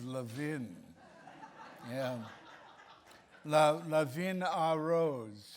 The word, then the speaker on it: Levin: I love that pronunciation Levin most of us think of it as leaven but he's Levin yeah now Levin our